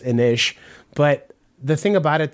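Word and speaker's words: Inis: The thing about Innis that is pretty, it's actually, I think, pronounced Innish.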